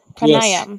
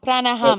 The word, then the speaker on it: pranayam: Pranayam. Yes, pranayam. How do you say it? Pranayam. Pranaram. Pranayam. No, no, no. Pranayam. No, pranayam, pranayam. Pranayam. Pranayam, yes, yes. Pranaham. Yes. Not ham, pranayam.